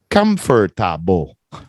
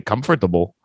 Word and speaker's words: comfortable: Just like comfortable. Most people don't say comfortable. They say, Comfortable.